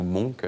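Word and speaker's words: Munch: le peintre norvégien etard Monk ou Monk ça dépend comment on aime prononcer voilà il est ici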